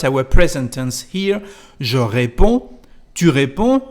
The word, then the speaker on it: réponds: Je réponds, tu réponds. As you can hear, we don't pronounce the letter D nor the letter S.